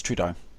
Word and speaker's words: Trudeau: When the controversy broke about John Trudeau, did I say his name wrong again? You really did. It's Trudeau.